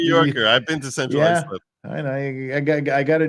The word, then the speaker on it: Islip: Islip. Yeah. Khalila. He's charged. It really is Islip. It's pronounced Central Islip. I'm not making that up.